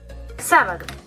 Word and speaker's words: sábado: Y las esdrújulas, como hemos dicho antes, siempre llevan tilde, como por ejemplo sábado. 1, 2 y 3. El golpe de voz lo lleva la tercera sílaba, sábado. 1, 2 y 3.